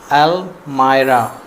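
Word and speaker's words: almirah: अलमारी कपड़े टांगने वाली अलमारी को फ्रेंड्स कहते हैं ड्रॉब व ड्रब अलमारी अलमारी अलमारी का सही प्रोनंसिएशन होता है अल मायरा अल मायरा अलमीरा नहीं बोलते हैं अल मायरा किताबों की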